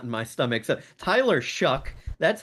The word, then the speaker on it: Shough: So, Tyler Shough, that's how you pronounce it, s h o u g h. I'm not sure how they get a c k out of that, but you know, he